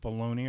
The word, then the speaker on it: Bologna: whatever whatever you want I try to pronounce it like the classier way below below that's how I pronounce it could be Joseph Bologna for all I know but I just say below now now what I remembered